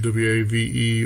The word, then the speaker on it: WAV: So from Wikipedia, waveform audio file format, which it says WAV, W-A-V-E, or WAVE, W-A-V, due to file name extensions, pronounced WAV, and that's according to Wikipedia.